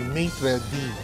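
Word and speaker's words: maître d': When you pronounce it's actually maitre d'. Hiwalay, maitre tapos d'.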